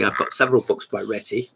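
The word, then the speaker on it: Réti: got several books by retti reity cause i think we should be pronouncing that i don't say it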